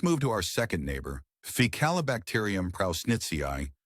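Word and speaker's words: Faecalibacterium prausnitzii: Now let's move to our second neighbor ficalacterium prnitzi pronounced fical bacteria e prown netzi.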